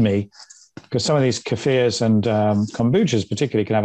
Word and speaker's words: kefir: Well, I always want to say kefir. Americans generally say kefir, and I remember Kiefer Sutherland is the only one. But I don't think that's right. I think we might say it, but I think we're saying it wrong.